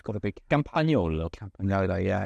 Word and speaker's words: Campagnolo: to Pago to pag we're not allowed to pronounce the G there it's got to be campol campola yeah it's it's difficult